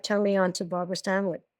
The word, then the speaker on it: Stanwyck: She's the one that turned me on to Barbara Stanwyck, but she would call her Barbara Stanwyck. She never pronounced the K at the end.